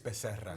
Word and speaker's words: Becerra: In a state that's half Hispanic, Javier Becerra. Hearing the pronunciation there, really. It's Becerra. Really leaned in.